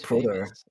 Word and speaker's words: Prowder: Oh, it's actually Proder. It's actually Proder. It's not Prowder.